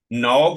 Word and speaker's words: now: नाउ के अंदर हम क्या करते हैं, बल्कि एन के साथ ओ वाला डिप्थंग लगाते हैं, नाउ।